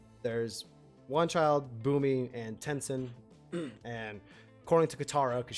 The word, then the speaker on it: Tenzin: Tenzin.